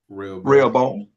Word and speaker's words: Rehoboam: How you pronounce it? Rehoboam.